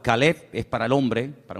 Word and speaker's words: Caleb: Para diferenciar el nombre del perro se pronuncia diferente, pero se escribe igual. Caleb es para el hombre, para un nombre propio.